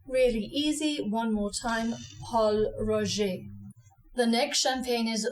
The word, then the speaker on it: Pol Roger: a really great champagne don't say Ro like the man's name Roger it's Paul Ro or to dial Don to English Paul R really easy one more time Paul Ro the next champagne is